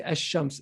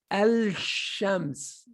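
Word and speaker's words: الشمس: So for example, if I wanted to say ash-shams, ash-shams is the correct way to say it, right? If I wanted to say the wrong way, I would have to say al-shams, al-shams. And I wanted to try to say it, al-shams.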